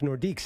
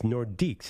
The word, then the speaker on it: Nordiques: could oh the Quebec nordiques they're great it says no nordique I'm like it's nordics it's a team and he said the s in French is silent so I'm like oh